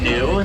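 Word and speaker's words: gnu: they also go by the common name of new that's spelled g n e u and it's an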